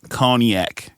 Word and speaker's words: cognac: podcast name conac corner conac conac conac like con Island almost yeah yeah yeah yeah